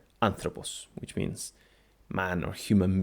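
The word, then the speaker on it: ἄνθρωπος: second last syllable and third we have the properoxitone kind which is a word which has an acute accent on the third last syllable and a very famous word that has this feature is the word anthropos which means man or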